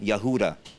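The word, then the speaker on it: יהודה: take the the um tribe of Judah right Yehuda that's the real pronunciation that's where Utah.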